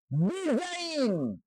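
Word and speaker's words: design: ল্যাঙ্গুয়েজে হরিন উচ্চারিত হবে ডিজাইন ডি ই এস আই ডি এন ডিজাইন শব্দের অর্থ হচ্ছে আকা রিজাইন শব্দের অর্থ হচ্ছে পদত্যাগ এখানে জি উচ্চারিত হয়নি আর ই এস আই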